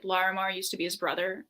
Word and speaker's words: Larimar: really did like was it Lamar? How do you say it? Larimar.